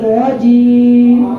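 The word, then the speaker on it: رجيم: আমরা সাধারণত শাইতানের শাইখ অনেকে বলেন না শয়তানের রাজিম বলি বিশেষ করে যে ভুলটা করে রাজিম উচ্চারণটা কি হবে যার আগে ছিলেন একটু জোরে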